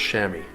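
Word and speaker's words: chamois: uh c a m o i s but pronounced shammy unless you're talking about the am animal there's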